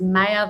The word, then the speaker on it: Maya: best way to remember how to pronounce it is Maya, the force be with you.